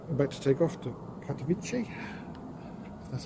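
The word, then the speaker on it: Karachi: I'll do a practice one with the rhino that's going about to take off to Katichi. That's how you pronounce it.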